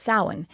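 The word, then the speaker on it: Samhain: it's spelled people it the way it's pronounced looks different than the way it's spelled because it's it's I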